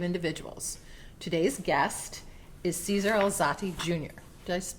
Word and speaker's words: Alzate: Today's guest is Caesar Alzati Jr. Did I pronounce the last name right?